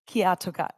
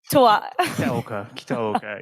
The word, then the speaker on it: Kitaoka: Kiyatoka. Oh, sorry, I pronounced your last name wrong. Kitaoka. It's a little bit like kinoko, like the thing that we saw before.